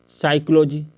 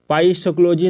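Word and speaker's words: psychology: एल ओ जी वाई साइकोलॉजी ठीक है पाई साइकोलॉजी नहीं बोलना है यहां पे देख सकते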